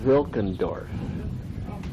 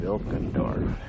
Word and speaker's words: Wilkendorf: Okay, we're down at the clubhouse for the Golf Club Wilkendorf. Spelled with a W, but pronounced like a V.